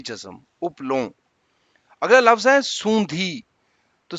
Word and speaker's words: اپلوں: تو پہلا لفظ ہے اپلوں، یعنی الف پہ پیش، پہ جزم اور لام پہ پیش، واؤ پہ جزم اور یہ نون گنا جو ہے اس پہ بھی جزم، اپلوں۔ اگلا لفظ ہے سوندھی،